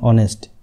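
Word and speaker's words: honest: তো আওয়ার বলতে এইচের উচ্চারণটা আমরা সাইলেন্ট থাকে তখন এন আওয়ার ঠিক আছে। যেমন অনেস্ট, এন অনেস্ট ঠিক আছে, অনেস্ট কই না আমরা, এন অনেস্ট কই।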